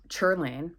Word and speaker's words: Sherilyn: I went to my girl, and her name is Cherlin. It's spelled like Sherilyn, but it's pronounced Cherlin.